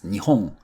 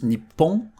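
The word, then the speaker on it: 日本: So for Japan, it's Nihon, Nihon, Nihon. There is a variation which is Nippon. Actually, Nippon sounds slightly more patriotic, and you might hear it more in sports or political events. But when Japanese people say, I come from Japan, they'll use Nihon.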